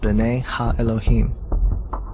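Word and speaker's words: בְּנֵי הָאֱלֹהִים: of God mentioned here in the Hebrew is pronounced Bena Elohim the Septuagint which is the Greek translation of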